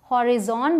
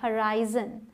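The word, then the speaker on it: horizon: अब है ये जिसे बहुत सारे लोग शायद हॉरिजॉन बोलते हो, लेकिन इसकी प्रोनाउंसिएशन है हराइजन। हराइजन, ठीक है। ज की प्रोनाउंसिएशन आएगी, इसका ध्यान रखिएगा। इसका मतलब आकाश का घेरा या आकाश। द sun rose over the हराइजन। ठीक है, हराइजन बोलना है, हॉरिजन नहीं बोलना।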